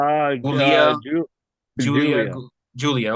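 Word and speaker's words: Giulia: It Okay, it's spelled different. it is. It's I spelled like think G she's I from U L I Japan. She's A. from somewhere over that way. But She just they spells it all differently.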